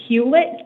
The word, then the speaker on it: Huet: you very much and tell me again it's pronounced huet yes ma' huet okay thank you miss huet